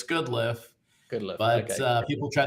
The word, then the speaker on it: Goodliffe: Yeah, when I'm in sales, it's Good Life, because they remember that. When it's real and it's family, it's Goodliffe.